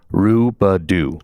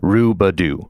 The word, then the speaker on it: Rubo: in text messages saying, you're saying his name wrong. Rubo. Correct. Yep. Rubo.